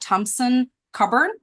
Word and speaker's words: Thompson Coburn: Trey comes to the AAO after 18 years at Thompson Coburn.